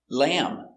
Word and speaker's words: lamb: very good so remember whenever you see m b at the end of a word the b is always silent these are only some